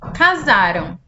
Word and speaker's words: casaram: Casaram. Eles se casaram ontem. Aqui embaixo, Pedro e Maria casarão amanhã. Perceberam a diferença da pronúncia? Então, casaram ontem. Casarão amanhã.